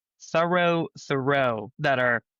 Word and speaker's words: Thoreau: So this is thorough being thorough right all that's changed is which syllable has the stress and that's another one